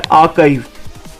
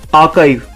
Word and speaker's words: archive: तो इसकी pronunciation जो है वो है archive, which is written as AA-KIVE, archive.